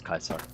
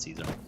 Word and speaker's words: Caesar: SE a kaisar run it's kaisar it's not Caesar cuz the guy's dumb